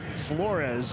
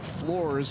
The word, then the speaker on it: Flores: thinking well you know I've heard so many people say flores and now you're saying floors and I think what we've learned is we were saying it wrong for 3 years I think almost the